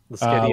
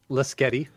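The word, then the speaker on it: Lasqueti: Lasketti Island. Lasketti. Lasketti, like spaghetti.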